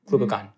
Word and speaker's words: glucagon: insulin or or glucagon am I saying it right glucon glucagon glucagon thank you this drug is a